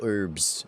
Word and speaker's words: herb: I want to get the orbs, the herbs. Man, English is so weird. Why is there an H at the beginning of the word herb if you don't pronounce the H?